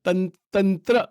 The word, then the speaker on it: Tantra: One is a Vedic path, and the other is what is called the Tantra path, or Tantric, or Tantra. That is how it is pronounced.